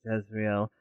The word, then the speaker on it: Jezreel: All right, so Jezebel, who frowns every time you mispronounce her name and sort of mutters, "It's Jezreel," is pleased to hear that